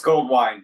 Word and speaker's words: Goldwein: It's Goldwein, like the drink. Goldwein.